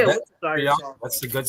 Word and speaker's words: Worcestershire: I mean, everybody says it differently. It's actually Worcestershire. Worcestershire sauce. Worcestershire sauce. Yeah. Come on, Dave. You know I'm sorry. The good Okay. Oh, You yeah. say a Worcestershire Yeah, sauce.